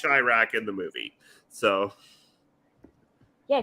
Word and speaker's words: Chiraq: technically I mean technically since it's you know a play on Chicago it should be Shirak but yes which is